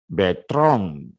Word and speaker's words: Bertrand: Usong Rafael Betrong, Betrong, ya, Rafael nama orang laki-laki, Betrong, ya, tulisannya Bertrand, bacanya Betrong.